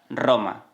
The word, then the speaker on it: Roma: It is also important to note that words beginning with R are also pronounced with rr and not r. For example, the city Roma. We don't say "Roma" but "Roma". Next we have the s.